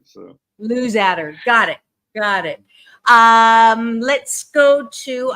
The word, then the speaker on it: Luzadder: Well, it's pronounced many different ways, and I answer to every pronunciation. Okay. But it's Luzadder within the family. So Luzadder, got it.